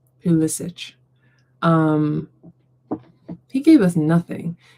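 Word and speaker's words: Pulisic: I always want to say Pacilich, but it's Pissic.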